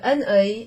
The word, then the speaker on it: un œil: You pronounce the N before the O.